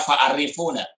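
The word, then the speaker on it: فعرفونا: Itu bacanya fa'arifuna.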